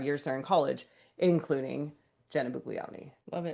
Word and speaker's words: Buglioni: Bug Bugleion. Bugleion. Bugleion. And if we're saying it wrong, somebody please tell us let us know. Uh, but we listened to the way they announced at the draft and they said Buglioni.